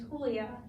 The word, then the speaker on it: Julia: that come about yep my family is a Hispanic descent so my pronunciation of my name is Julia Julia my parents thought that